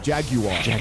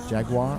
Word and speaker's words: Jaguar: Jaguar. How do you say it? Because you say it properly. How do you say Jaguar? Jaguar. Jaguar.